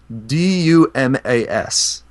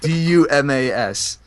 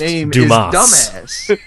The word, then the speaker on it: Dumas: guy from the Holy Roman Empire named Dumas d-u-m-a-s hey if you phonetically say out d-u-m-a-s this main villain nice pronounced dumbass his name is dumbass I'm sorry it's pronounced